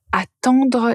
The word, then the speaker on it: attendre: la même façon mais la première syllabe est différente. Attendre. Attendre. Donc vous avez la lettre à tendre. Pour entendre vous avez la nasale.